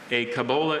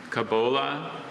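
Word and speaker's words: cobola: kabola is a tall, slow growing evergreen tree of chiefly moist montaine regions from Costa Rica to Bolivia.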